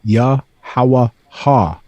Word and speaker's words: Yahawahashai: That's YHWH that you commonly see throughout the Scriptures, and that's pronounced Yahawahashai, right? And then the son of him, the Christ, Yahawahashai, which means he exists, salvation, right?